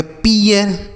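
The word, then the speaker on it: pear: पी ई ए आर, इसे हम पढ़ेंगे पियर।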